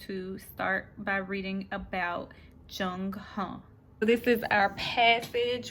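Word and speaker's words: Zheng He: So that's how you pronounce it, Jung Huh.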